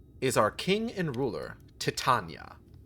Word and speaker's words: Titania: our king and ruler, Titania. Is it Titania or Titania? How's that pronounced? First one, Tatana.